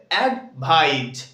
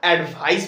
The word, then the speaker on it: advise: বলতো এর উচ্চারণটা হবে অ্যাডভাইজ কি হবে অ্যাডভাইজ মানে এখানে এস টা জ এর মধ্যে উচ্চারণ হবে ওকে সো এটা কিন্তু আমরা অ্যাডভাইস বলবো না যেটাতে এস